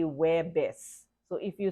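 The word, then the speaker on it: Huwebes: which is each you you only pronounce the second syllable so it seems it sounds like that so web base is pronounced sounds like webis you do not see who wear best okay Filipinos say we're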